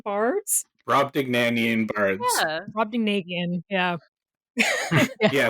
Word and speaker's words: Brobdingnagian: I also can't actually pronounce their name, the Brobdanagan Bards. Brobdingnagian bards.